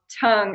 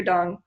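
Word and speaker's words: Tung: of Chinese medicine called tong acupuncture doctor doctor dong it's pronounced with a D even though it looks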